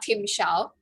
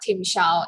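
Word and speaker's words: timshel: is of eden uh tim xiao so it's a word from the bible that was mentioned in the book is of eden uh tim xiao is the pronunciation of a hebrew word from the fourth chapter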